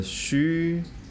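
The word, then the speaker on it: 嘘: The Xu is spelled as X with the U umlaut. The Xu healing sound for the liver has three components. The first component, the consonant Xu. The second component is the vowel U, the U umlaut. U.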